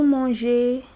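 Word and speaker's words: mangent: Vous mangez, il mange. Il mange. Don't pronounce that NT, just mange, okay?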